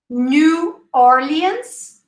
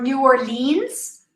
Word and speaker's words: New Orleans: toronto toronto disney world new orleans or new orleans both are correct okay new orleans or